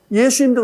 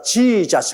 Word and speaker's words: 예수: 아버지 이름만은 정하게 불러야죠 예수님도 그렇지 않습니까 정확한 예수님의 이름은 예수입니다 예수 우리 한국 말이 딱 맞아요 근데이 미국 사람들은 자기들 발음에 맞 가지고 지자 합니다 예수님하고 자하고 얼마나 다릅니까 아마 예수님 셔어 저거